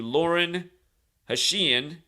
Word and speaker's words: Lauren Hashian: day four years ago he got married to Lauren hashian that's how you say it August 18 2019